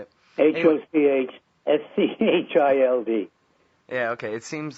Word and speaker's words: Hochschild: Hochschild.